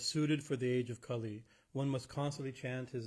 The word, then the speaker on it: Kali: So for starters, it's not Kali, as in goddess Kali. It's Kali, right? It's a short A, short I. Kali is a long A and a long I, right?